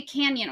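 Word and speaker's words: Cañon: Yeah, it's I thought it was like a canyon with a Y. No, it's like canon. It's like not I'm pronouncing it wrong, but it's like it's like the the till day over the the N.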